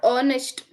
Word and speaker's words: honest: the word o right we are leaving the H we're telling that it